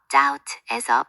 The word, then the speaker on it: doubt: 예를 들어 doubt에서 B는 묵음이고 listen, 듣다에서는 T가 소리 나지 않죠.